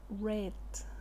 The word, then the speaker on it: read: was Reading estaba leyendo el pasado se escribe igual pero se pronuncia red como el color rojo hay red a ver